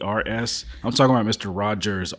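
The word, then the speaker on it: Rodgers: I'm talking about Mr Rogers r o d g RS we we don't we don't talk to that guy the D is silent take that take that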